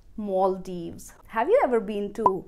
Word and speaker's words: Maldives: and then deevz However If you look up in english dictionary you will find that maal-deevz is also an acceptable pronunciation but I prefer to speak it as mawl-deevz have you ever been to Maldives?